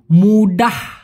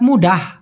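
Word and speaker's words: muda: শুধুমাত্র যদি মুডা বলেন, মুডা লাস্টে যদি আ উচ্চারণ হয় তার মানে হলো কাঁচা অথবা অল্প বয়স্ক।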